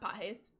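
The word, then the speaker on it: Pages: The way I said it's pronounced Pajes. It is a Spanish last name.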